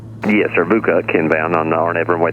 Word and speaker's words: VUCOC: Did you say Bukuk? Yes, sir. Bukuk inbound on the RNAV runway 32. Okay, we'll do 6871 Delta. I thought he had 3 syllables there. He said VUCOC, V-U-C-O-C.